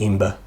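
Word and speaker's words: Æmber: this resource amber amber amber amber people pronounce it it's got one of those a symbols from encyclopedia so probably ember and forging three keys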